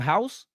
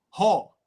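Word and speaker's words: Haugh: How you say his name? House? Hall. H-A-U-G-H.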